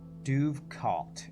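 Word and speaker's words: dovecote: Duvkot is apparently the official pronunciation. I don't know what DUHV and KOWT means, because I use International Phonetic Alphabet.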